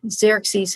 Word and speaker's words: Xerxes: Xerxes, and again, it's spelled Xerxes, and the X is pronounced more like Arachet.